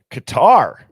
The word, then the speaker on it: Qatar: Mississippi, Washington State, Qatar.